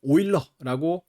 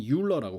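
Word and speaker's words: Euler: 그런 거의 일환으로 그 이제 독일어권에서는 오일러라고 읽는 이름인데 영어권에서는 유일러라고 그냥 읽어요.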